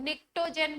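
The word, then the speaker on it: pnictogen: नाइट्रोजन family को क्या बोलते हैं, निकोजेन। क्या बोलते हैं, निकोजेन, पी साइलेंट होता है। निक्टोजेन भी बोलते हैं, निकोजेन भी बोलते हैं, पी साइलेंट।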